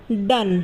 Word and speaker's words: done: ई है आखिर में, तो आखिर में जब ई होता है तो उसका इस्तेमाल नहीं किया जाता, यानी कि वो साइलेंट रहता है। तो ये बन जाएगा डन, DONE, डन।